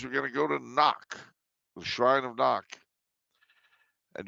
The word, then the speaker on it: Knock: No, Knock. As in knock, knock, who's there?